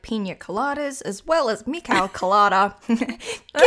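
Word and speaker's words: Kolyada: in a previous episode they pronounced his name colada uh so mikhail and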